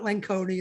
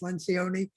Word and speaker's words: Lencioni: about Lencioni early and it's not lanconi it's Lencioni um and uh you